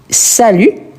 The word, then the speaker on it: salues: Donc, on va dire tu salues. Donc, la prononciation, elle est identique mais on ajoute le s à la fin.